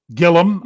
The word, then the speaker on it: Gilliam: Russ says Joe Gilliam. Gillum. I was put in the extra. Yeah, don't give it the extra syllable.